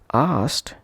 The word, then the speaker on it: asked: Ed is to be pronounced as t and not as d or as it. For example, asked pronounced as asked, not asked or asked.